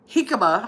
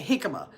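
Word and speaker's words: jícama: Hikima. I keep trying to pronounce the J because it's spelled J I uh C A M A. Hikima.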